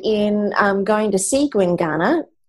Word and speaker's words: Gwinganna: Well, I guess if any of our listeners are interested in um going to see Guingana, how do you spell it again, Kimmy?